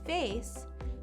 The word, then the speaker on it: face: notice as well with face there's a c in the middle but that c is pronounced like the s face face lastly we